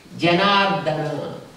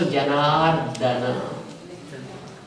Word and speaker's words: Janardana: It's not mardana. Some words do we know, like how they have to be pronounced. So Janardana. It's not Janardana. Don't stress on that.